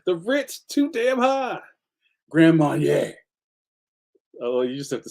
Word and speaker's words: Grand Marnier: Grand Marnier.